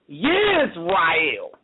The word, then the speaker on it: Yisrael: But first of all, you can't say Israel because originally Israel wasn't pronounced is, as in ISIS. It was pronounced with a Y sound. Yisrael.